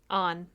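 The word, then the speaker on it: Anh: Her best friend's name is spelled A-N-H. On.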